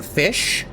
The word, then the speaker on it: Ghoti: I am Fish. G-H-O-T-I, Fish. Yes, that's how you say it.